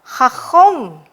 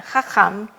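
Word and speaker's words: חכם: wise and just nah kenapa saya ini nanti eh membaca ini dengan khakhom kenapa bukan khakham itu nanti pada unit selanjutnya kita akan belajar bersama bahwa kamats itu kadang dibaca sebagai kamats katan sehingga kamats katan itu diucapkan dengan o khakhom ya vesadik oke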